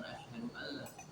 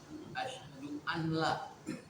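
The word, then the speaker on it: أشهد أن لا: Misalnya asyhadu alla, tapi dia bukan asyhadu alla, asyhadu anla.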